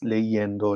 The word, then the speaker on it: leyendo: we want to add the ending yendo that I in the in the beginning becomes Y in Spanish and then we end up saying legend legend just remember that Double L and Y are pronounced kind of the same as J in Jenny legenda there might be